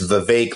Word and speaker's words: Vivek: First of all, I before I heard him say that it's Vivek like cake, I was looking online, like, how do you pronounce this name, right?